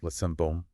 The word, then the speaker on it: Sainte-Baume: Yeah, Sainte-Baume, it's pronounced.